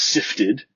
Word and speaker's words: SIFTD: It's SIFTD, which it is actually pronounced Sifted.